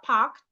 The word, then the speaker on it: parked: Pastor and his wife are in the car parked in the garage. I didn't say packed. I said parked. The ED here sounds as T.